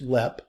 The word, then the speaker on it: Leap: and they lived at this Castle it's called LEP Castle it's spelled e-l-e-a-p all right but it's pronounced LEP Still Standing it is a private residence today